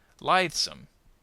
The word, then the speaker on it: lithesome: Lithesome on the first syllable.